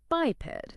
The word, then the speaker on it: biped: It's brilliant because it has both sounds. The bi is long bay, and the ped part effectively has a short E sound, but related to how short vowels work.